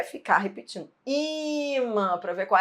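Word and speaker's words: ímã: Imã, não é imã, é imã, entendeu? Imã.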